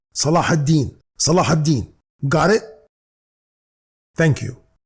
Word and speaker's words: Salah: word Saladin listen to me carefully the correct pronunciation is Salah Salah Salah got it thank you hello beautiful people